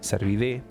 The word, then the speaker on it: Cervidae: En realidad la terminación AE se pronuncia E, Cervidae.